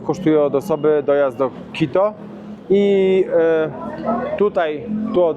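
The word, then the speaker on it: Quito: Teraz jest misja znaleźć transport do transportala w Tulkan i w Tulkanie musimy znaleźć autobus do Kito, bo się nauczyliśmy. Pan nam powiedział, jak się to poprawnie wymawia. Kito, kito.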